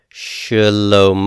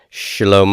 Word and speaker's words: Shalom: Shalom Oh Shalom oh here the Shiva is a vocal Shiva and it is going to be pronounced not as a full vowel sound but as a reduced vocal noise and it'll be like an a sound as in when it's vocal maybe the word about whenever you say the